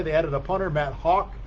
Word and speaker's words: Haack: added a punter matt hawk his uh name is spelled h double a it doesn't look like hawk but that is how it sounds like the the bird that flies through the air that's uh what the